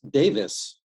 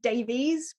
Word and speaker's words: Davies: and that that word that last name is pronounced Davis in England even though there's two spellings so it's either is which is Davis or I which is technically Davies but if people say